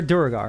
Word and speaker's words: Duergar: They're Duragar. I'm sorry. That's what they're. That's how it's pronounced. Not the Draugr. Yeah, a No, Draugr it's is something Duergar. very different, but it's Yeah, fine. Duergar.